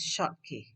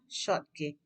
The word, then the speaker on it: Schottky: is called schottky defect remember this is um this spelling s-c-h-o-t-t-k-y the pronunciation is short k yeah short k and then the second